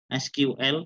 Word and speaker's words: SQL: kita Terjemahkan ke dalam bahasa Squall atau SQL bacanya Boleh Squall boleh SQL ya boleh SQL ya Monggo